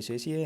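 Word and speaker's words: satiate: तो सती होने पर ये शेषीय है, इसको कुछ भी बोल सकते हैं, वैसे इसका प्रोनाउंसिएशन होता है शेषीय।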